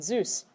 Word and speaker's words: süß: Zeus. Like the god.